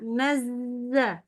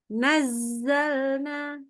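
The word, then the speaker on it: نزّلنا: a aja yuk nazzalna lebih keras lagi huruf z-nya nazzalna nazza nazza bukan naz nazzalna ada ada gitunya nazzalna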